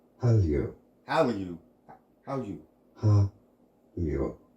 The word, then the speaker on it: Hallyu: In Korean pronunciation, Hallyu.